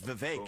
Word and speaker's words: Vivek: I say my name's Vivek. It rhymes with cake.